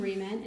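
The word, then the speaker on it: Re-Ment: Most of the remint stuff is a little big, but some items like this money is sized perfectly for critters.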